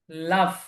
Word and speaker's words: laugh: লাফ। লাফ। লাফ। লাফ। এটা খেয়াল করবেন, এটার যে লেখা, রাইটিংটা, এই রাইটিং এর সাথে এর যে ফনেটিক সাউন্ড, উচ্চারণ, এটার সাথে কোনো মিল নাই।